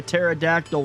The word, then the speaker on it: pterodactyl: Why can't you hear a pterodactyl when he goes to the toilet? Because the P is silent.